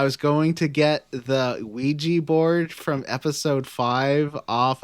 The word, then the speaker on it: Ouija: Oh, it's actually pronounced Ouija.